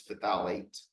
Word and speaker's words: phthalate: Or phthalate, the deprotonated form is phthalate. Just don't forget the TH when you pronounce it.